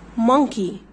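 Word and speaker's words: monkey: يقول ايه بس لا الاو سايلنت ليه علشان الاو وراها ان نمشي على ان على طول كده كاني باكل الاو وانا ماشيه بقول ايه مكي مكي مكي مكي يعني قرد طيب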